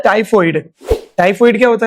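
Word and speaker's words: typhoid: तो वो टाइफॉइड होती है. कुछ लोग इसको टाइफाइड बोलते हैं, मैंने सुना है, मिसप्रोनाउंस करते हैं, बट मैं बता इट इज टाइफॉइड.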